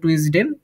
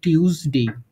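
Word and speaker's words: Tuesday: জিনিসগুলো এখানে মূল করি এখানে আমরা বলি টুইসডে এটা সঠিক উচ্চারণ যেটা হবে এটা হলো টিউসডে ওকে তারপর হচ্ছে আমরা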